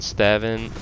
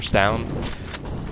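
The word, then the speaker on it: stavn: Slow down Stavin, or Stown. I heard I've been saying it wrong, my bad.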